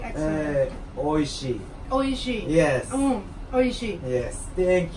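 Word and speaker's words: oishii: Oishi.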